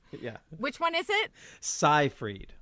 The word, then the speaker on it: Seyfried: Seyfried, like sci-fi.